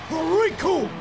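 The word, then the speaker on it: Recoome: to this man, because the name's Raccoon, and it rhymes with doom, and you're gonna be hurting.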